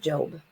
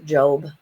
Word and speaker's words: Job: of Solomon and we're going to start with job it's pronounced job not job and this is an ancient story